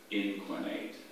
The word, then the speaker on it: inquinate: Are there any alternate pronunciations? Just the one. There's inquinate.